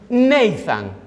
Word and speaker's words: Nathan: Y cuando tú lo fonéticamente pronuncias Natán en inglés, se pronuncia Nathan.